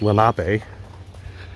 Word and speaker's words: Lenape: I believe they're pronounced Lenape, who inhabited a lot of Pennsylvania, but especially around bodies of water.